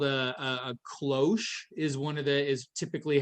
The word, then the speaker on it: cloche: One is called a cloche, is typically how it's pronounced, or you can just call it a small tunnel.